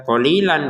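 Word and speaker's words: قليلا: Qalilan di sini kita baca qalila, ya. Yang tulisannya qalilan kita bacanya qalila dipanjang 2 harokat. Kenapa? Karena kita berhenti.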